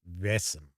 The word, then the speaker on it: Vaesen: I think it's supposed to be pronounced Vaesen. Sort of like that.